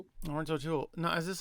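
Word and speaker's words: Laurence O'Toole: Lawrence Oul, which is how his name is pronounced, but it's not spelled like that.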